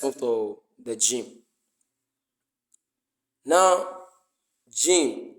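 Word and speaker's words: جيم: to the gy now Jim as it has been explained earlier it is pronounced from the middle of the tongue and the mouth from inside Jim Jim Jim g g g not g not shim not shim as some it's not shim it's not shim it's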